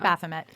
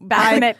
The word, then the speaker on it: Baphomet: Baphomet. Baphomet. Yeah. I liked when somebody at one point pronounced it Baphomet. And I was like, it's French.